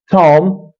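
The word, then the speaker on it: tomb: Here the B is also silent. You can see and we can pronounce it Tom. Tom. The B is silent because the B comes after M. So whenever B comes after M in one syllable word, that will be silent.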